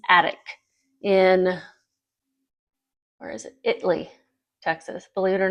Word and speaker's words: Italy: Italy, Texas. Believe it or not, that's how you pronounce it.